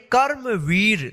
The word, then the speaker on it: कर्मवीर: ऊपर रेप इसको पढ़ेंगे कर्मवीर ध्यान रखिएगा जिस अक्षर के ऊपर रेफ रहेगा उसे अक्षर नहीं करेंगे उससे पहले वाले अक्षर के बाद जो है ना आधा रॉ उच्चारण करेंगे कर्मवीर सूर्य के उगने